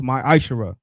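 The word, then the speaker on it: מעשר: Means tenth in the Hebrew and is pronounced ma'ashara.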